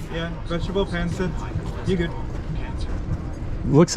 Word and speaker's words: pancit: Burger lumpia, vegetable pancit. Is that correct? Did I say it right? Yeah, vegetable pancit.